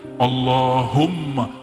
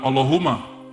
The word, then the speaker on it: Allahumma: situ ada mimnya Allahumma Gimana cara bacanya Allahumma bukan Allahuma allahum dia mesti ditasdidkan Allahumma ya dan dia